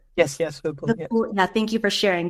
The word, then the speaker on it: Vipul: Yes, Vipul.